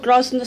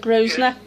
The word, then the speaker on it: Grosvenor: Right, so you're doing some work in the local cinema called Grosvenor Cinema. Am I pronouncing that right, or is it Grosvenor? Yeah. People pronounce it either way.